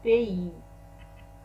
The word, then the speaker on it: pays: هنا Y تنطق على شكل I، أما الإس في الأخير لا ننطقها. le pays.